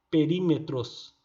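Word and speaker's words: περίμετρος: Perímetros. Desse jeito. Perímetros. Então escreve tudo estranho aqui, mas a pronúncia é perímetros.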